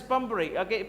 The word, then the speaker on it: Pumphrey: The spelling, the pronounce Pumphrey, P-U-M-P-H-E-R, P-H-E-R-E-Y, Pumphrey, Mrs.